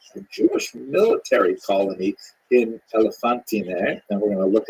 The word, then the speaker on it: Elephantine: Now, I always pronounce that, by the way, Elephantine, until I looked a little more carefully, and I think it's supposed to be pronounced Elephantine.